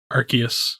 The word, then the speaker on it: Arceus: like based on pokemon uh how do you pronounce it archaic garcias arceus arceus so a cable holder for 400 points